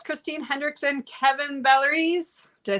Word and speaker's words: Vallieres: How did you say to pronounce it in French? Vallieres. Valeres? Vallieres. Valeres. I'll have to practice it. Definitely have to practice that one more. Vallieres is easier for English.